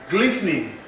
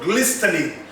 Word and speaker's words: glistening: Glistening, glistening, not glistening. It's like listen, listen, listen. Not even listen, it is listen.